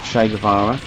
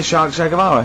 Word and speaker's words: Che Guevara: Che is like shake, and his surname is like guitar.